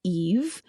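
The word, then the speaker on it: Aoife: And so the king, who is named Bod, I believe King Bod, offered Lear his daughter, pronounced Eve, as kind of a peace offering for their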